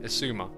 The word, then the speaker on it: Xisuma: Ah, no, it's not. It's part of the name, Xisuma. Like, you know, that yeah, it's a made-up name, so it can be pronounced however you like, really, but that's the intention, at least.